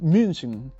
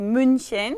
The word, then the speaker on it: München: Y lo mismo, entonces, por ejemplo, si quieren decir München, Múnich, es muy difícil porque también tiene CH, ¿no? Entonces sería, primero pueden decir mu y luego con esta U forman la boca y dicen I, München.